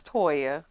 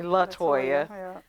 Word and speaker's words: Toya: Now that you say that, my name is Toya, but people call me Latoya.